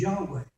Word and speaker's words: Yahweh: But if they use it as a Y sound and the V as a W sound, they'll pronounce it as Yahweh.